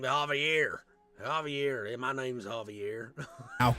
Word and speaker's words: Javier: He keeps mispronouncing Javier. His name is Javier.